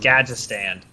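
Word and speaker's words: Gadgetzan: It's pronounced Gadgetstan. It's pronounced what? It's Gadgetstan. Is it? Yeah, I don't know what the hell you're saying, but the first part of the word is gadget.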